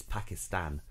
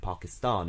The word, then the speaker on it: Pakistan: But apparently, the reason why the pronunciation unit recommend Pakistan is because people from Pakistan prefer Pakistan, not Pakistan. They don't like that.